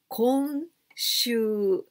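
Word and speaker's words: 今週: But this kanji, we can also pronounce kon. And this time, we pronounce kon. Konshu.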